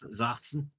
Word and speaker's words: Sachsen: Sachsen. Sachsen, there you go. Niedersachsen. And yeah. Yeah. Sachsen or Yeah, Niedersachsen. because like the single S is a more like it's like a soft Z and how it's pronounced